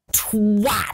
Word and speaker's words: twat: It's twat. You fat and twat. You emphasise the ah. Anyway, right. And if you want, don't even pronounce the T on the end, just twat.